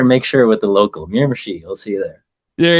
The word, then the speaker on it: Miramichi: You're like, how'd you pronounce it again before we started? Better make sure with the local Miramichi.